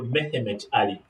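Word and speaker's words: Mehmet Ali: most of their books they have written they have what we call mehimet ali they call him mehimet you are correct in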